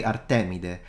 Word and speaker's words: Artemide: yeah no idea so in Italian we say artemide but one thing I'm